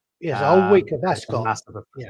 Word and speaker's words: Ascot: Ascot. Yeah. Yeah. Ascot as in soot.